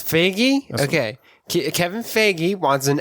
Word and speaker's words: Feige: pronounce his last name I'm pretty sure we say fagy now it's fagy Okay Kevin fagy wants